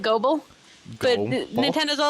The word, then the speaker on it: Gobul: And they freaking said that you're supposed to pronounce Gobble as Gobble, and I will never ever do that ever. How do you spell it? It is Gobul, Oh. and we pronounce it Gobble.